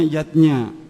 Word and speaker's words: yajna: lima macam selamatan zatnya tulisannya yajna Ayah Bunda tapi membacanya yatnya yang pertama adalah dewa